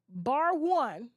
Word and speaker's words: Barone: of collector for bar bar one Barone sorry it looks like bar one though but it's spelled